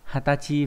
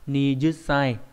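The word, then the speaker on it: 二十歳: Đặc biệt là trong 20 tuổi chúng ta sẽ đọc đặc biệt đúng không? Đấy. Chữ gì nhỉ? Nhị thập và tuế chúng ta sẽ có hai cái đọc là hatachi và nijusai, trong đó cái đọc hatachi nó sẽ được dùng nhiều hơn.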